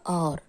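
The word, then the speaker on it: hour: अब यहाँ देखिए जो एच है उसको हम क्या बोलते हैं? और को हमने बोला और, एच नहीं बोला। एच यहाँ पर साइलेंट है।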